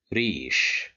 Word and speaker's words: ريش: Here we have the letter ra controlled by kasra and followed by ya, so this makes مد بالياء. That's why we'll pronounce it as ريش.